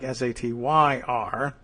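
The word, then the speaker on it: Sater: sat t er uh ironically I guess probably pronounced just like sat T yr but uh that guy's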